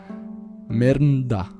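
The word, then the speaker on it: Mermnadas: Lidia de la dinastía merda sonará raro pero así se pronuncia su posición como rey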